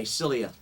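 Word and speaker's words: cilia: What's What's Silia on your face? It's spelled C I L I A. Silia, is that your uh eyebrows?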